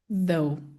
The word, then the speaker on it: though: Th sem voz é um sussurro. Esse aqui, sua garganta tem que emitir voz.